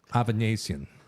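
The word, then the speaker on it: Avanesyan: Thought that said aneurysm. It's Avanesian. Avanesian is how you say that.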